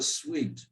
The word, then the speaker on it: suite: more than one room, it's called a suite. S-U-I-T-E, and that spelling S-U-I is the same pronunciation here. Suite, we.